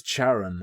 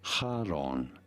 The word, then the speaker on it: Charon: Karen Karin British is Charon American is Karen but what's probably the accurate one pronouncing it for reference in Greek this is said as Haron Haron Haron Haron however